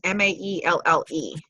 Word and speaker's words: Maelle: I'm not really sure how it's pronounced. It's Maelle.